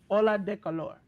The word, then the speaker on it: Ola de calor: I do not know how to pronounce it, so J News can pronounce it for me. It is uh Ola de calor. Ola de Color.